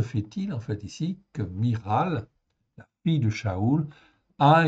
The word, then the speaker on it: Michal: C'est bien Miral qu'il faut prononcer, non pas Michal, hein?